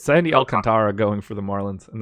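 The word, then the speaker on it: Alcántara: way that I'm supposed to say it's sandy Alcantara going for the Marlins and that's just what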